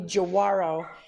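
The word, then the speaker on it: Giaguaro: we were talking about the pronunciation for the bike it's actually jawarro um and they're gorgeous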